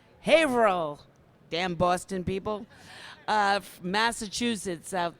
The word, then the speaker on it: Haverhill: Haverhill is that am I saying it right Haverhill damn Boston people Massachusetts out there do not